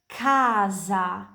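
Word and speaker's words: casa: Kalau C diikuti dari A, O, U, dan H pronunciasinya kayak K di bahasa Indonesia, kayak kental dan kucing. Jadi, kapan kalian lihat C diikuti dari A itu kaza rumah C diikuti dari U.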